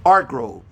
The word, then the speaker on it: Hargrove: My last name is Hargrove in English, but in Spanish it's Argrove. You don't pronounce the Hargrove.